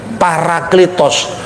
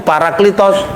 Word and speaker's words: Parakletos: lah bacanya para atau peri. Parakletos. Parakletos itu artinya pembela, penghibur, pengacara, pengantara. Makanya dalam bahasa Yunani modern pengacara, penasihat hukum itu Paraklitos.